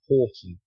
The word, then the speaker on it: Houghton: Uh, so it's Horton.